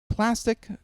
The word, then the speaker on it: Plastc: So for those of you who do not know, Plastc, spelled without an I, same way as plastic, but no I.